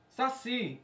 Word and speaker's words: saci: Então, se eu tenho a palavra saci, qual é a sílaba tônica do saci? Si.